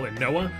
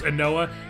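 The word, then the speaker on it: Ynoa: We have changed it to Raphael Anoa is I believe how you how you pronounce that. Y N O A. So I'm pretty sure it's Anoa. It's just a pretty simple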